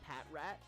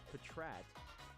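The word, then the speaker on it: Patrat: in the anime Prince I hear people say Pat rat and I'm like why'd they say Pat rat the anime says petrat that's why they put it like that so I know watch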